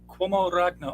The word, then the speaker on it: Uomo Ragno: okay, There's a, so Cuomo Ragno.